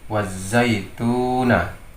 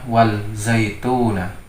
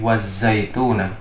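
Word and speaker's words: وَالزَّيْتُون: Di sini membacanya menjadi idgham, sehingga membacanya wazaituna. Jadi wazaituna. Jadi bukan membacanya wal zaituna, tetapi wazaituna. Jadi wawu diidghamkan ke huruf za.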